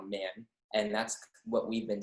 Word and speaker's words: Man: Well, so before my grandpa immigrated to America, it was pronounced Mon. But ever since he moved to America, it's now Man.